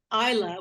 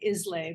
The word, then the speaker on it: Islay: whiskey distillery on the island of Isla, which is spelled Islay. It looks like Islay, but it's pronounced Isla.